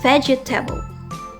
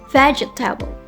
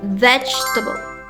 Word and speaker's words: vegetable: and say something like vegetable vegetable with four syllables but in natural English that's not how it's usually said. The correct pronunciation is vegetable. Vegetable. Vegetable only has three syllables.